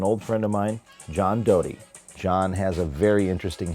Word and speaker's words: Doty: Am I saying it right, Doty or Doty? Doty. I always thought that, and somebody kept calling you Doty.